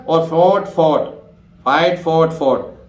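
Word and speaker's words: fought: में होगा, जैसे फोर्ट, एफ ओ यू जी एच टी। अब देखिए ध्यान रखना ओ यू जी एच टी, इसका मतलब यहां दोनों जी एच ही साइलेंट, दोनों गए भाई फोर्ट, ठीक है। अब इस उदाहरण में तो दोनों ही जी एच ही साइलेंट हो गया, फोर्ट एफ ओ, ठीक है, यू फोर्ट ना डायरेक्ट जी एच साइलेंट है, तो फोर्ट, फोर्ट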